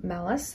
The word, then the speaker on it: MALUS: just double checked and it's more like malice like not malice but malice anyways here we go